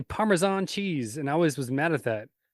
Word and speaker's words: Parmesan: But it's also that's like Parmesan versus Parmesan. I hear white people say Parmesan cheese, and I always was mad at that.